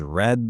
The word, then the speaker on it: read: The answer is she has read the book. Perfect. We use has because we're talking about she. And here's a tricky part. The word read is spelled the same, but we say it like red.